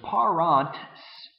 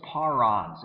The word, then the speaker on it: parans: do one more thing, because parant is difficult to say if you really slow down and pronounce it emphatically. And so what the Romans did is with this NTS combination, they would drop the T. So that gives us parans.